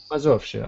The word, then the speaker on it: Mazowsze: Mazowsze.